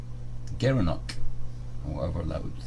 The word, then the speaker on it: gerenuk: he dare given hoop gerenuk he pronounced as a gerenuk the garrovick yeah you